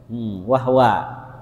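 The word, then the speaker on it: وَهْوَ: Nah, ada awalannya wahwa, kita boleh baca wahwa, haknya disukunkan.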